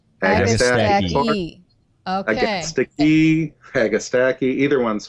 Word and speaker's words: Agastache: Okay, I always say I defend my plant names. So I say aga, like an agapanthus, right? Do you say stachys or do you say stachys? Stachys. Agastache? Agastache. And you always pronounce that last E.